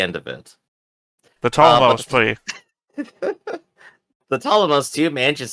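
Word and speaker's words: Ptolemaios: The Ptolemos, too, manages Yes, to enter. yes, please correct that because we're getting shouted at in the comments that the P is silent.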